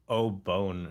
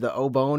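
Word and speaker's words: お盆: pronunciation or something yeah the way that you pronounce it made it sound like oh bone or something oh the obon holidays yeah like it's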